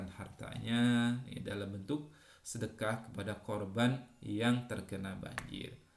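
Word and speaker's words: صدقة: Kita lanjutkan saja tentang pengertian sedekah. Nah, sedekah ya berasal dari bahasa Arab, dari kalimat sedekah, sedekatun. Dalam tulisannya sedekatun, dibacanya sedekah. Artinya adalah sedekah atau derma atau pemberian.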